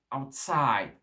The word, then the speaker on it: outside: Et ici, en anglais, c'est plus l'inverse. Outside, outside, outside, d'accord? Le out ici, c'est une préposition, donc on ne va pas trop donner d'importance, et c'est side, outside. Donc l'accent tonique va être où? Sur la deuxième syllabe.